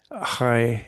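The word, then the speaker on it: חי: Um, Chai is with the ch, the H is pronounced a bit of a ch, like in Loch Lomond, the Scottish pronunciation.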